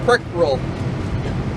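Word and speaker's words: Prykryl: my first name is last name is prick rule I'll spell it for you it's P R y k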